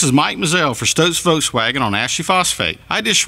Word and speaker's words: Volkswagen: He needs to know that he is mispronouncing the word Volkswagen. You're going to love your experience at Stokes Volkswagen. I guarantee it. Come see us today at Stokes Foswagon on Ashley Phosphate or StokesVub.comace at Stokes VDub.